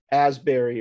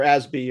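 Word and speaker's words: Asbury: and shane or even like a corey as asberry or or asby or i i forget how to say this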